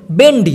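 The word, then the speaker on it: bendi: আমরা জাস্ট ওই বকে ভ উচ্চারণ করে বলি ভেন্ডি, ওরা বলে বেন্ডি।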